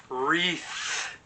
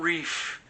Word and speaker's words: wreath: I'm saying it wrong it's a wreath not Reef it's not in the ocean so we got this